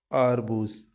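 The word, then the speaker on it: арбуз: The stress is on the first syllable. A. It's pronounced as arbuz.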